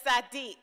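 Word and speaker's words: tzaddik: eve of rosh hashanah is a sadiq and i wish you could hear me say that it's spelled t-z-a-d-d-i-k which is hebrew for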